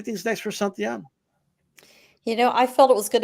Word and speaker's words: Santillan: I mean, most people don't know who he is, and most people still can't pronounce his name right. Santillan, Giovanni Santillan.